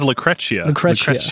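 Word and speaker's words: Lucrecia: was lucretia which we finally get he says lacrecia it's funny because i was like oh that's how you pronounce it and i already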